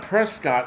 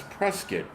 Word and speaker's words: Prescott: Fortit not and it's pronounced forkit river. These people like it's like Prescuit Arizona. It's not Prescott. It's Prescuit.